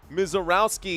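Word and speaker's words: Misiorowski: Hey, already know Misarowski is the pronunciation.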